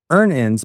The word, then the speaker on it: Earnin: Download Earnin on the App Store or Google Pay, spelled like earning money without the G.